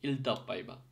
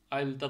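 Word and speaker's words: iltapäivä: যেরকম দুইটা ই কে যখন একসাথে সি, ই, ইর মতো উচ্চারণ হতে হয়। তো ফিনিশে একটা শব্দ আছে যেরকম ইলতাপ পাইবা, ঠিক আছে, আইলতা তো হয় না, যেরকম ই, আইটা ইর মতো,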